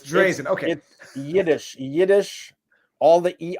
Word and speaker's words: Dreizen: the pinned comment afterwards correct drazen is in d-r-e-i-z-i-n it's not verizon as it is it's german it's not it's not third-party in german it's drazen okay yiddish yiddish all